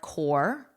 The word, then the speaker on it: corps: Notice my pronunciation here. So the P and S are silent. So it's the same as core, your core, or you can think of it as core principles, core, an apple core even.